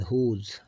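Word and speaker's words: whose: तो अब आर की तो है अब एच आ रहा है इधर डब्ल्यू के बाद हुज हुज यहां पे भी डब्ल्यू साइलेंट है हु और हल ठीक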